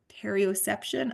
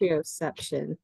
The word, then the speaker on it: proprioception: ROT worked a lot with her on her perioception.